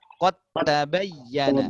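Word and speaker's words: قد تبين: Kalau kita pisah, dia akan berbunyi qad tabayyana, ya kan? Pisah. Tapi di sini kita sambung. Kenapa? Karena memang macam itulah cara bacanya. Maka langsung masuk ke ta, dalnya ini macam hilang.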